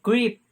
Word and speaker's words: crepe: So creep. Creep. Ako rin yung research kung saan pag-pronounce creep or creepy. So, nigawas sa akong research kay creep yun siya.